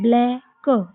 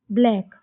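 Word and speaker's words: black: तो यहां पे सी साइलेंट हो जाएगा। तो इसको क्या पढ़ेंगे? ब्लैक। ब्लैक।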